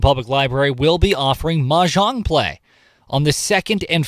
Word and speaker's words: mahjong: Boy, you say it so well. Mahjong. That's the proper pronunciation.